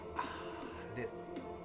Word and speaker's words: Aleph: They don't say it like you say a letter or a word, Aleph. They say Aleph. You understand? It's a breath. And then the breath is put on the rest of it.